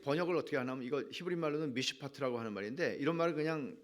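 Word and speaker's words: מִשְׁפָּט: 의미인가 하면 이게 번역을 어떻게 하냐면 이거 히브리말로는 미시 파트라고 하는 말인데 이런 말을 그냥 발음으로는 알아두면 좋아요 근데 판결이라고 번역됐어요 많은 구약성경에서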